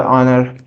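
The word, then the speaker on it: honour: Such as आवर और ऑनर? तो यहाँ पर क्या आर्टिकल लगना चाहिए? जैसा कि मैंने बताया था, यहाँ पर एच साइलेंट है तो यहाँ पर एन लगेगा।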